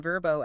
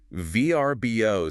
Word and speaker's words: Vrbo: stood up and said, "VBO sounds like a government agency. It sounds like you're filing taxes." It kind of does. Verbbo sounds like a friend. That is almost certainly the logic. Verbbo is a word. It's approachable. It sounds like a verb. Let's verbbo a place for the weekend. Oh, yeah. You can't really do that with let's VBbo a place. It just doesn't roll off the tongue.